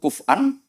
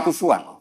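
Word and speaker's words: كفؤا: Dan rata-rata kiro'ah sab'ah bacanya, kiro'ah sab'ah bacanya walam yakullahu kuf'an, bukan kufuan.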